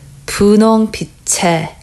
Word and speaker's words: 분홍빛의: Okay, so 의 at the end, if you pronounce it slowly, it's pronounced as 의, but normally when you pronounce this word at the end with something, as a possessive, you pronounce it as 에.